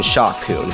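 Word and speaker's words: Sha Koon: coming back number nine shakun no that's not a Mis mispronunciation I'm talking shakun not plun shakun is PL kun's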